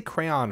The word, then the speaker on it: crayon: There's subtly two syllables there. Crayon.